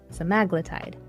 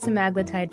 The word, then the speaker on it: semaglutide: me in the comments, I've heard semaglutide pronounced about six different ways. Semaglutide, semaglutide. I'm sticking with semaglutide because it sounds confident and I fully accept that someone will tell me I'm wrong. Cool.